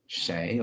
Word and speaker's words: 谁: This word, shéi or shui. How do you pronounce this, Melanie? Your pronunciation is very good. Shéi, shéi, or shui, but spoken Chinese we prefer to pronounce shéi, shéi, which means who.